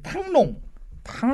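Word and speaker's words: Thăng Long: 처음은 하노이가 아니었고 처음은 그 이제 탕롱. 예, 우리식의 한자 발음으로는 이제 그 승룡이 됩니다. 승룡. 근데 승룡을 이제 베트남어로 읽으면 탕롱이 되는데 용이 올라가는 그런 건가?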